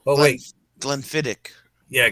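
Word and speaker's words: Glenfiddich: something wrong oh wait Glenn fittich yeah Glenn fittich okay so the accent is on the ick okay yeah yeah yeah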